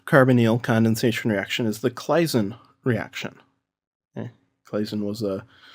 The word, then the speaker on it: Claisen: our second carbonyl condensation reaction is the Claisen reaction. Okay. Claisen was a German chemist, so I have to train myself to say it right. It's the Claisen reaction.